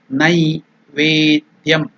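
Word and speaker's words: नैवेद्यम्: Again I am telling you Nai. It is not Ne. Naivedyam.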